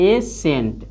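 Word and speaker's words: ascent: जैसे में देखिए एसेंट, यानी एसेंट, एसेंट, यानी AS से सी का हो जी साइलेंट हो जाएगा, तो एसेंट, एसेंट।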